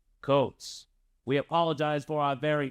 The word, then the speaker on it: Kuntz: The last name of the German soccer coach we interviewed earlier this week is pronounced Coates. Coates.